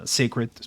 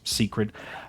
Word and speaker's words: Seikret: family which is the sacret secret I've heard it pronounced multiple ways I like Secrets but sometimes I call it secret just depending on the mode but yeah the sacreds